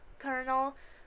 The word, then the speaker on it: colonel: Um, and also her little just like how you made me colonel, which I just learned that's how you pronounce it because I'm not the brightest tool in the shed.